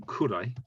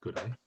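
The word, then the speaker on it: ぐらい: It comes from kurai, which can be pronounced gurai.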